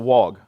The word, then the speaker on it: wog: But it's pronounced, it's W-O-G. It's pronounced wog.